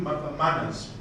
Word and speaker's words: MANRS: So it's MANRS, but we pronounce it as manners.